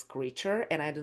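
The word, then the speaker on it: Kreacher: And I know that his name is spelled differently, but it's pronounced as creature.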